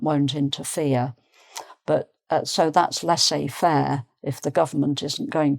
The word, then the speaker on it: laissez faire: Okay, laissez faire. So again, the Z isn't pronounced. Laissez faire means to let, literally to let someone do something.